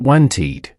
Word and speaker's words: wanted: But by adding the e sound, it becomes clear and elegant wanted.